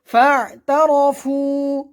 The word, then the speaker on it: فاعترفوا: فاعترفوا এখানে আইন আছে, আমরা ভালোভাবে উচ্চারণ করব। ফা'তারাফু ফু পেশের বাম পাশে জজমালা ওয়াও মদের হরফ এক আলিফ টান হবে।